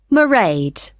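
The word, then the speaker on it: Mairead: then so you'll see my assistant marade sorry how do you spell that it's m a i r e a d marade okay not that it's not a name I'm familiar with oh it's an Irish name she comes from Dublin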